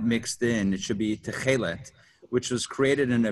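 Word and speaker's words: תכלת: He was talking about the tukil, help me with that pronunciation, Rabbi. It's Techelet.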